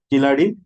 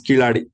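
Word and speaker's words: Keezhadi: K-E-E-L-A-D, Kiladi, or K-E-E-Z-H-A-D-I. Okay. In Malayalam and Tamil, Z-H, you should pronounce this as La, right? La, right? Yes, La. That is Kiladi.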